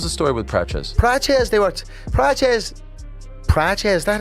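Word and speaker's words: Prates: Praches, Praches, that how you pronounce that?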